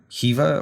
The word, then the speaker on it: Jiva: Mayastore project and their Jiva or Jiva, I don't know. I pronounce it Jiva, but okay, I like Jiva. Like Jira, Yeah. but there's like a V instead of an R.